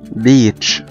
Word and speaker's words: beach: beach او شاطئ بحر B-E-A-C-H beach. زي ما احنا شايفين قدامنا عندنا two vowels او حرفين متحركين الاي والاي، الاي هننطقه بشكل ممتد كأنه long vowel والاي هيكون silent beach. واضح كمان في كلمة زي